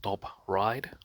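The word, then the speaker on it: Top Ryde: Now, I was in a shopping center called Top Ride, okay, here in Sydney, uh, or in the northern suburbs of Sydney.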